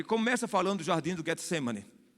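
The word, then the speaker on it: Getsêmani: Começa falando do jardim do Getsemane. Em hebraico é Getsemani.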